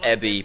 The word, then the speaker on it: Ebi: in giant rainbow letters it's pronounced ebie because it means shrimp every year and people